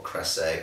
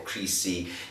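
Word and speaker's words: Crécy: And the one I've chosen is Crecy, or Crecy, or Crecy. There are lots of different pronunciations for this place in France where a very famous battle happened, where the actual origin of the two-fingered salute comes from.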